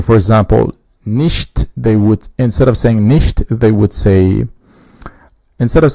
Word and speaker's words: nicht: The equivalent in German is nicht. Now you hear a different pronunciation from ch here, which is che. it is not exactly sh in English, but this is she, like someone who has a lisp, or instead of saying,